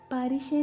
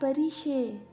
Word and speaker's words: پریشے: اس نے اپنے یورپی لب لہجے میں اس کا نام دہرایا۔ پاریشے نہیں، پریشے۔ میرے نام کے پیچھے کیوں پڑ گئی ہو نشا؟